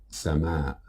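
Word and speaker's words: سماء: in the last lesson this word is pronounced as sama sana now let's have a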